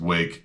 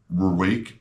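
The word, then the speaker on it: Rwake: front because yeah uh it's spelled with an r in the front but apparently it's just pronounced wake and that would have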